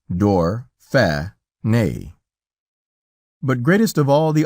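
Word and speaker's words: Dauphiné: for us calling it Dorf on a and pronounced door fair nay but greatest of all the honors shown us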